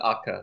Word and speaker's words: ACCA: acronym for something uh they pronounce it AKA so I I assume